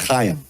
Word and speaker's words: Chaim: Chaim. Chaim. That's how you say that? That's how you say it, Chaim. You see, phonics doesn't always work for your names over there, does it?